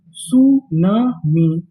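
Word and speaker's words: tsunami: सुनामी। सुनामी। सुनामी। यहां पर हमें टी का उच्चारण नहीं करना।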